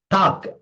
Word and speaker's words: talk: Talk, T-A-L-K. L is silent.